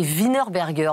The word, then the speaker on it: Wienerberger: Estier, directeur national de la prescription Terreal et Wienerberger. Bonjour Clément. Bonjour Estelle et bravo pour la prononciation parfaite de Wienerberger.